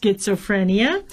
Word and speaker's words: schizophrenia: i said that word wrong but it is pronounced schizophrenia and it's the definition we have in our